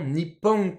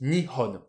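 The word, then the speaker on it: 日本: alors aujourd'hui le Japon il arrive qu'on enlève le cocou on dit juste Nipon et puis on va avir une autre lecture qui est aussi Nihon on a deux lectures alors ça c'est un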